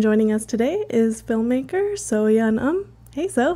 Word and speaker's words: So Yun Um: It's So-Yeon Um. First name So-Yeon, last name Um.